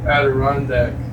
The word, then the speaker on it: Adirondack: And you know, when I was a kid, I used to pronounce that as Adriana Adrian the day. but it is indeed Adirondack, as my friend from New York, Josh, likes to remind me.